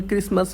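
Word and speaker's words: Christmas: है अपना six number match cancel क्रिसमस और हाफ सभी मैं टी साइलेंट है जबकि हाफ मिट्टी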